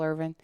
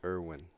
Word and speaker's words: Irvin: My grandmother always called him Michael Irwin. Irwin. It was like Gagi, so she always mispronounced his name.